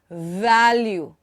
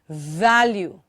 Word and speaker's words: value: activate activate value value can you hear the audible friction value not value not value but value and take your time